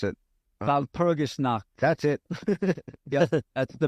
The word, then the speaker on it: Walpurgisnacht: Wasn't that like Valshalmer? I can't pronounce it. Walpurgisnacht.